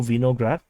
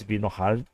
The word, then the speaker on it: Vinohrad: So the rest of the civilians is actually evacuated by the Donetsk People's Republic militias, and through Vinograd. Actually, it's in Ukrainian they pronounce it differently. It's Vinohrad.